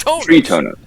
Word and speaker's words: Tritonos: Tritonos, like a tree, and then tonos. Tritonos.